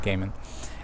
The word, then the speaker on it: Gaiman: norse mythology o'neil gaiman depending on how you pronounce it i think he actually pronounces it gaiman anyway the essence of